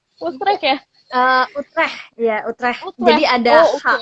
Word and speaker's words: Utrecht: Gimana sih bacanya? Utrecht ya? Utrecht, ya Utrecht.